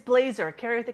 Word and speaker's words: Blaser: Is that how you pronounce it, real quick? It's Blazer.